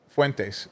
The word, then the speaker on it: Fuentes: So the Fuentes guy is Fentes. How do you say his name? Fuentes.